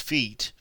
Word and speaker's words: fete: In the same way, lawn fete, without the circumflex accent and commonly pronounced feet, has elbowed out the English garden party.